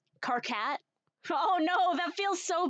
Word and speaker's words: Karkat: Gonna start pronouncing Karkat with emphasis on cat. Karkat?